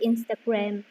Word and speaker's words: Instagram: So practice more with the sales, and also when you pronounce the Instagram, you just say Instagram. You should stress the first syllable, Instagram or Facebook or internet.